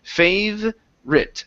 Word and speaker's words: favorite: In this word, we do not need to pronounce that O sound. Instead of favorite, it's favorite.